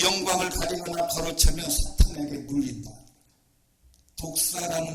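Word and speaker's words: δόξα: 영광이라고 하는 단어를 헬라어를 이렇게 쓰는데 이 말을 발음은 독사입니다. 이 독사예요. 독사. 발음도 똑같습니다.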